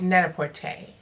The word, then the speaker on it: Net-a-Porter: Oh, I mispronounced Net-a-Porter. It's not Net-a-Porter like what I said in that last video. Maybe I got confused because Sidney Poitier had just passed. Rest in peace. But yeah, it's Net-a-Porter.